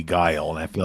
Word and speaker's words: Guile: said I've always said guile but you know there was Willie and I've heard uh I've heard Gill before but I mean guile is a word like that's I feel like it's definitely guile and I feel like